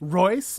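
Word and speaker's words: Reuss: You know, this is an example of designer in Eric Royce, rhymes with voice, by the way, who, you know, he's a new generation of designer here.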